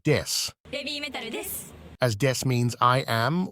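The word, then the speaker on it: です: An example is that when BABYMETAL introduces themselves, they will use a pun with the English word death instead of the Japanese word des.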